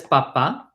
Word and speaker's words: papá: Notice the accent on the A, right? Papa, there's a line on top. So this is the emphasized syllable.